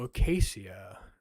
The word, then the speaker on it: acacia: So acacia that's a pretty cool thing made of wood.